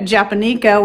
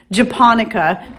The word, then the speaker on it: japonica: pronouncing it all wrong i think i was pronouncing it japaneco when it's pronounced japonica but anyway you can check out that link